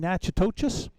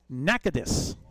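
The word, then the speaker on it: Natchitoches: In Louisiana, we've been saying Nachois. No, sir. Nakadus is how it's supposed to be pronounced.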